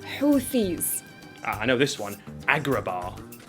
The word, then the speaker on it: Houthis: able to stop the houis houis those guys in Yemen right it's houthis there's a th in the word houthis I know this one